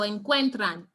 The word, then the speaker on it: encuentran: So we look right here, we see that the stress is right here on the second to last syllable.